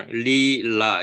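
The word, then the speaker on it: लीला: 릴라 영어로 쓸 때는 이렇게 li 이렇게도 쓰고 L e LA 이렇게도 쓰고 산스크립트로는이 바가 있죠 위에 그러니까 길게 바 리라 이렇게 길게 발음하는 거예요.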